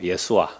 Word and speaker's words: 예수아: 이 예수라는 히브리어식 발음은 예수아예요. 예수아.